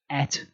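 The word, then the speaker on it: את: Then we've got this word here, which is the aleph and the tav. It's pronounced et, and it points to the object of the sentence.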